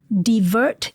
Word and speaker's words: DVERT: So there is a divert team. It's spelled DVERT, which is Domestic Violence